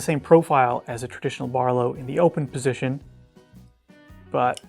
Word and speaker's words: BRLW: That's Barlow spelled with no vowels.